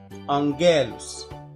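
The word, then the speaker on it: ⲁⲅⲅⲉⲗⲟⲥ: لو جه وراها حرف من الحروف دي اللي هي الغمة كابا كي اكسي، بيتنطق نون أنجالوس أنجالوس.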